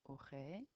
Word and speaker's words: aurait: We don't pronounce the ends of these words. Aurait, aurait, aurait, aurien, auriez, aurait, aurait. Even though it ends in ENT, still doesn't matter.